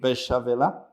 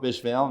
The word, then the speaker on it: Beychevelle: to start with special Bishopville means Besh is lower they say the word French word is busy lower and Val is the sale in Spanish it's speller so that's coming from old